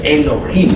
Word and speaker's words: Elohim: divinidad diosas y dioses Eso significa Elohim o mejor dijéramos Elohim porque la H se pronuncia como j estos Elohim son como quiera